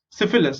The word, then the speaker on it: syphilis: okay, syphilis, so sy su उसका pronounce sy लिखा है बट उसका प्रोनाउंसिएशन है स, phi is fur and lis is lus।